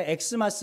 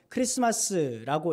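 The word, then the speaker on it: Xmas: 모르기 때문에 우리가 이걸 갖다 엑스마스 이렇게 읽는데 엑스마스라고 읽지 말고 그냥 크리스마스라고 읽으시면 그러면 될 것 같습니다.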